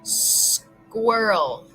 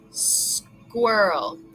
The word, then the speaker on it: squirrel: and that is so squirrel squirrel squirrel we want to say Earl Earl come on Earl